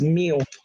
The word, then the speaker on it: mu: Okay, so the Greek letter is spelled mu. Okay, but is read as mu.